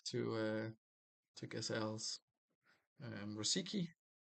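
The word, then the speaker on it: Rosický: Um Rosiki Rosichki I guess is the correct pronunciation for Look at me with my Slavic accent here.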